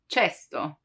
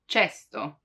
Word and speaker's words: cesto: For casa, house, casa, but the K sound can also be pronounced as ch, as in cesto, cesto, which means basket.